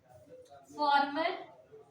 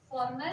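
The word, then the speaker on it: former: इसके अलावा फॉर्मर, सुनो क्या होता है फॉर्मर मतलब? हाँ? फॉर्मर, फार्मर नहीं, फॉर्मर। एक फार्मर मतलब किसान।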